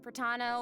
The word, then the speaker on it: Pratano: Hey everyone, I'm Pratano, rhymes with Patano, the voice of Child's Master, Skirk.